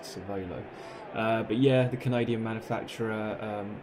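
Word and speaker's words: Cervélo: Not sure how you meant to pronounce that, but the accent on the E was to suggest Cervelo.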